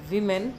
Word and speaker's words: women: यहाँ पर आप देखिए विमेन है, WOMEN, तो इसकी प्रोनाउंसिएशन है विमेन। विमेन प्लूरल होता है और वोमेन होता है सिंगुलर।